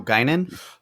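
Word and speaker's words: Guinan: You said gyn. There's an N at the end.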